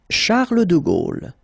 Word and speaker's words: Charles de Gaulle: Français Napoléon Bonaparte na poéon Bonaparte Napo Bonaparte Charles de Gaulle Charles de Gaulle Charles de Gaulle Charles de